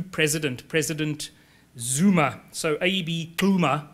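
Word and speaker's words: Xuma: president Zuma so AB Kuma not related to The Zuma the current Zuma a different Zuma different pronunciation XU ma a um he began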